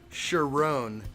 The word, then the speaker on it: Chiron: look up okay so Jacob says Sharon is the correct pronunciation okay Sharon so the Bugatti Chiron how come I've never